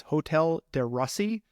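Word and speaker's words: Hotel de Russie: I'm going to say it right it is hotel de Russi r u SS i e um it was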